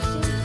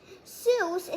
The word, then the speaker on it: Seuss: important thing that dr seuss says i like nonsense it wakes up the brain cells fun fact seuss is supposed to rhyme with voice not goose but doctor never minded